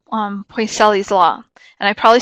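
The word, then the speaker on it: Poiseuille: from Spanish I so I probably said it wrong but it's P oh I s eu I ll eat boys Ellie's is how I've always learned it la and this isn't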